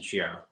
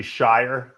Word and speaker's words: Shier: runaway for just Justin Shier by any means I think it's pronounced actually Shire Shire school he schooled